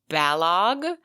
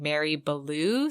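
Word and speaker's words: Balogh: the correct pronunciation is balog she says it rhymes with kellogg we had been saying mary blue so i believe it is mary belogg so sorry mary blog and thank you sarah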